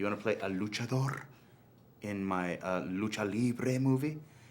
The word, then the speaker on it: luchador: is a luchador?